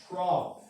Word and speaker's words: trough: Trough. I know that's a weird looking word, right? O-U-G-H makes that F sound in English. Okay, so like think about it like rough, right?